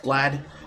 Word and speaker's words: GLAAD: gay agenda, reacting to a GLAAD report, pronounced GLAD, bemoaning the lack of big gay characters in video games and describing the report as heartbreaking.